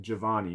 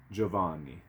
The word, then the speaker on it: Giovanni: e senora john giovanni giovanni is how i know how to say it giovanni the gio is joe joe like a j joe giovanni um anyways you probably look